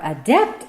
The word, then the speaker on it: adept: We're so adept at, by the way, this is the correct pronunciation of that word used this way. We are adept at shoring up our selfhood.